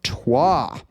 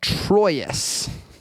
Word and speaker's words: Troyes: This is Tua or Troyus, however you want to pronounce it. Um, so this is a fascinating um or tro.